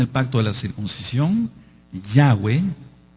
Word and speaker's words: Yahweh: Alguien que no tiene el pacto de la circuncisión, Yahweh, que así se pronuncia, por lo que ya expliqué, no puede ser su Elohim.